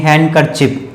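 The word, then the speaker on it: handkerchief: हैंडकरचिप, हैंडकरचिप, ठीक है, तो यहां पे भी डी वर्ड साइलेंट होगा, यानी कि डी नहीं, हैंडकरचिप, हैंडकरचिप, ठीक है, हैंडकरचिप, ये जैसे आप रुमाल कहते हैं।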